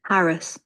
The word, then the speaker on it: harass: Harris. Harass. One with stress on the har and the other with stress at the s.